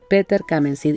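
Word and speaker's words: Peter Camenzind: Esta novela que se llama Peter Kamensid, y lo pronuncio así porque es alemán el nombre, ¿no?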